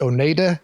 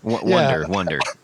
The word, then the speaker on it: Oneida: Nick from, I'm pretty sure it's pronounced Oneida Effects. Nick Wonder from Oneida Effects. Wonder. No, it's definitely Oneida.